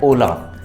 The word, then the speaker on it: hola: उसी तरह ये है ओला ही, लेकिन लगा हुआ H है। तो आपको ये चीज़ थोड़ा सा ध्यान रखनी है, H हमेशा साइलेंट रहता है। तो हम लोग हेलो हाय को ओला बोलते हैं, ठीक है।